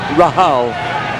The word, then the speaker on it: Rahal: best of Lebanon or Graeme Rahal or as we call him Graeme Rahal because he is of Lebanese ancestry. his grandfather wasn't a Lebanese uh citizen and uh so that is the pronunciation of Rahal in Lebanese Rahal.